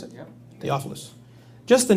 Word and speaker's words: Theophilus: Is that how you pronounce it? Yeah. Theophilus.